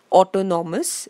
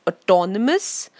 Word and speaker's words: autonomous: our autobiography autocrat and autonomous please notice the pronunciation don't say Otto Norma's its autonomous autocrat and autobiography now autobiography is a life